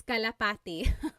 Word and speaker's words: kalapati: Local Cry said, how do you pronounce kalapati?